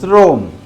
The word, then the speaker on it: শ্রম: পড়তে পারে এটা সর চম চম্র না বল শ্রম শ্রম কি এটা শ্রোম